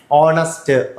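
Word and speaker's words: honest: അവർ, owner, ഓണസ്റ്റ്, ഏർ എന്നാണ് വായിക്കുക കേട്ടോ. ആൻ ഏർ എന്നാണ്.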